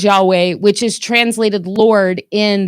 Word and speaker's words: Yahweh: Y HW what we say is Yahweh, which is translated Lord